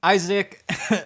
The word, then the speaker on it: Isaac: and get the Annunciation of my name correct Isaac I was calling you ISAC as this little